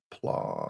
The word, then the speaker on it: Plaud: Did I spell it PALUD? Plod.